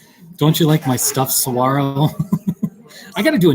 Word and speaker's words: saguaro: shop yes and actually saguaro it's spanish so the g the g is silent saguaro oh it